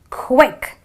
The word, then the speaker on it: quick: Similarly, you have another word which is quick, a short sound, quick.